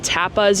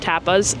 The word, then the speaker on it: tapas: really great Wine and Tapas you could even have a couple of um like stands around serving top I think I said Tapas and I should have said Tapas so sorry for the